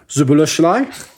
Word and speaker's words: Szoboszlai: So the one you signed that I really liked was the Hungarian lad, Szoboszlai. I believe that's how it's pronounced.